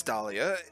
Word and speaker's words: Dahlia: are you guys serious my name has a silent h in it yeah yes dahlia it's not after r